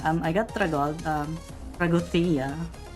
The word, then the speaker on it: Τραγωδία: Um I got Tra um Tragothea. Um that's how you pronounce it apparently because uh because Fis is like a Greek guy and you pronounce it with like a Tragothea or something.